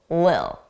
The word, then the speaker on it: little: So we pronounce that as a d, a soft D. Little, little. Now, some native speakers will drop those sounds entirely and it will just sound like lil. And then we connect it with a little. I personally pronounce the soft D's, a little.